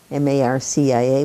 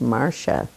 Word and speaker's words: Marcia: part of the country m-a-r-c-i-a was pronounced marsha so that's what they started to call me when i'm with the spanish-speaking people it's marcia the accent on the first syllable but anita told me